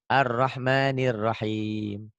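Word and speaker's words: الرحمن الرحيم: a tuh gitu arrahmanir Nir nyambung ke sini karena tasjid arrahmanirahim nah Latinnya tuh arrahmanirahim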